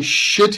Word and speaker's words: sit: shop but be careful because if you pronounce sit with the SH all the sound is can I sit here and I don't think anybody wants you to here so can I